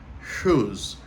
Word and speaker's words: whose: important c'est chos ok chose VO commentot prononcer donc il commen par la lettre W mais W pas prononcé n commen avec le Son H qui c'est OK et